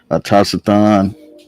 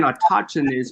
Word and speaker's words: autochthonous: A Taciton. Yeah, well, he was saying autochthonous, but that's pronounced incorrectly. Yeah, you pronouncing it wrong.